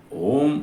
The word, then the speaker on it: ओम: 3 मात्राएं होती है उसमें। ओ, उ, म।